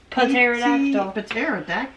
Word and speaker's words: pterodactyl: Pterodactyl. Pterodactyl. Well, whoever named that was stupid. Well, it doesn't. You don't pronounce the P. It's just pterodactyl.